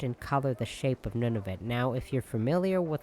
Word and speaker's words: Nunavut: And I personally am not actually old enough to remember when Nunavut, or Nunavut, I usually pronounce it Nunavut, became one of the territories, because it became a territory when I was like...